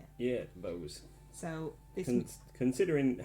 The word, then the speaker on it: Bowes: Yeah, Bowes.